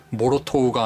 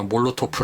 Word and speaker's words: Molotow: 현재 러시아에서 라고 생각했는데 그래서 모르 토우가 아니라 몰로 토프 라고 읽어야 할 것 같습니다 많이 쓰는 대로 따라가자